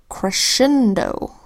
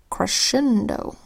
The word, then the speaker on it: crescendo: then here we've got the word crescendo where the SC makes the same sound as SH the sound crescendo and over here in